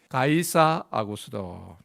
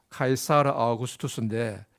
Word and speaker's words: 카이사르 아우구스투스: 1절에 보면은 그때에 가이사 아구스도가 영을 내려 천하로 다 호적하라 하였으니, 가이사 아구스도, 요즘 학교에서 배우는 식으로 발음을 하면은 카이사르 아우구스투스입니다. 카이사르 아우구스투스인데 이 사람의 본명은 가이우스 옥타비아누스였습니다.